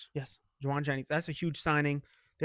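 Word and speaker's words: Jauan Jennings: Joan Jennings. Yes, Jawan Jennings.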